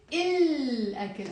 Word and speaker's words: الأكل: So here we said أكل, الأكل. I am pronouncing the l.